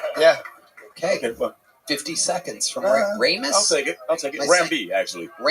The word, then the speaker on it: Ramb: It's Ram. B. Yeah, but you spell it B. like lamb.